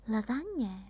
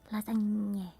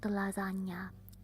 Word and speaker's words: lasagne: Lasagne, maybe. So lasagna is also the nye. Lasagne. And it's not lasagna. You can't find lasagna here because lasagna means that it's singular. But we say lasagne.